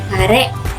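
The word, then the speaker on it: 彼: Cara baca ongyominya hi, cara baca kungyominya kare atau kano.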